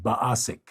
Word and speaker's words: Baasik: I actually have one of my friends, Jens, who plays in my home game, and his Inzandra Oz character is named Baasik. Yes, like basic.